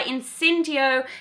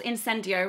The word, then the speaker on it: Incendio: This is, they're made by Incendio Candles, Incendio rather, bad pronunciation, and it's their divination candle.